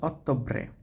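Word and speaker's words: Ottobre: সেপ্টেমব্রে এখানে টি টা হচ্ছে ত এর মত উচ্চারণ হবে সেম্ব্রে সেত্তামরে তারপর হচ্ছে অক্টোবর অক্টোবরটা হচ্ছে অত্যবরে অতব্রে আর টা আর টা হচ্ছে এর রে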